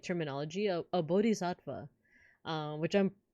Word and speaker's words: Bodhisattva: Because it's like, I like saying Buddha, So is it the same D sound as Buddha? Oh, see, so I think I messed that one up. But like, I'm trying. Good pronunciation. Thank you. Oh, okay, so it's the same D sound. Bodhisattva.